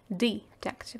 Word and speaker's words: detective: В русском языке у нас тоже есть слово детектив, и мы произносим его через звук э, поэтому нам и в английском языке хочется так сказать, но оно произносится через краткий звук э.